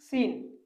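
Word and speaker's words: scene: यहाँ यस के तुरंत बाद सी का प्रयोग हुआ है और यहाँ सी साइलेंट है। जैसे कि सीन, इसको सीन पढ़ेंगे, सीन का मतलब दृश्य।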